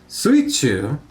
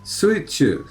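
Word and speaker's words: 水中: Sui is one of the ways that you pronounce the water kanji. Also mizu as well. Chu is one of the ways that you pronounce the middle kanji. Also naka.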